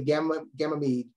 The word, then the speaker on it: Ganymede: also this moon here is I want to pronounce it correctly, Ganymede.